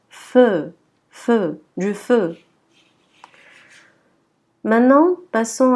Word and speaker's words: feu: On ne dira pas feu. Non, c'est faux. Ça se prononce feu.